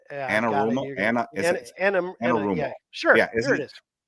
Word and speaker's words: Anarumo: That's why I will not completely discount them going back to Spags or I can't pronounce his name. Is it Anarumo? Anarumo.